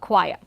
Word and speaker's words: choir: into this particular term, we find this being spelt as choir with a Latin spelling, and also being pronounced in a native English way as it is pronounced as choir.